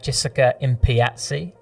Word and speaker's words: Jessica Impiazzi: And today I have Jessica Impiazzi, and I did a good job of YouTubing that to make sure that I pronounced that correctly, because that is a bit of a mouthful.